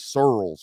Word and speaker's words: Searels: stacy searles hire um it is searles by the way i was where i i didn't quite understand the pronunciation but i should have known deep south searles all right just rolls off the tongue real deep like sorrels just like that stacey searles i would